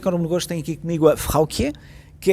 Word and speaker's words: Froukje: So, Froukje, am I pronouncing your name correctly? You're doing it very well.